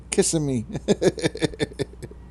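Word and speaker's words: Kissimmee: yep yep kissing me and St it's actually pronounced cimi kissim I know it's it's spelled out kissing me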